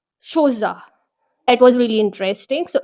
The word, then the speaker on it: Chola: It is not said Chola, but it is pronounced Shoza.